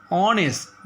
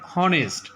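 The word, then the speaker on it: honest: যেমন এ house an অনেস্ট ম্যান, অনেস্ট নট হনেস্ট, ইটস আ pronounce like অনেস্ট।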